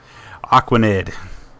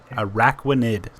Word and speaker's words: Araquanid: Aquanid. Arquanid? How's it pronounced? Araquanid. Oh, like Arachnid.